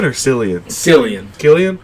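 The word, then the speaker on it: Cillian: is it is it Killian or selan san Killian it's spelled selan but I thought everyone says Killian M okay it might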